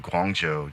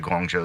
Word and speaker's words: Guangzhou: It's not like I mean, for most. many people, because there's no actual J in it. Yeah, I mean, I guess the ZH throws people off, but It does, and that's dumb.